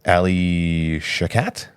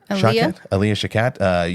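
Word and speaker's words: Alia Shawkat: And her friend was played by, and I forget her name, it's hard to pronounce again, Ali Shakat? Aaliyah Shakat.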